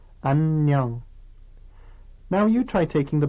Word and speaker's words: 안녕: Notice that when two N sounds come one after the other like this, they are pronounced separately, the first at the end of the first syllable and the second at the beginning of the next syllable.